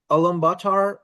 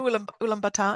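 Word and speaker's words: Ulaanbaatar: Albatar? I'm not sure whether I'm pronouncing that right. Ulmbatar.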